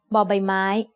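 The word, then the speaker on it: ใบไม้: you'll learn today is by mai by my main leaf as the initial consonant of a syllable bow by mai makes the sound but like the b in bucket you can also think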